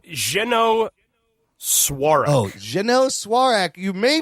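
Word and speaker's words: Jeannot Szwarc: That's a French ass name. It is a French ass name. It's Zeno Swarak.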